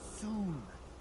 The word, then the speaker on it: Sun: It's Soon. What? Dr. Soon. Rhymes with moon? How difficult is that to understand? Hey, yeah. So anyway, Dr. Sun, I got a problem.